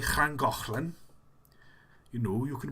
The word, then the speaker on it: Llangollen: So if you're pronouncing something like Llangollen, you know, you can pronounce it very easily.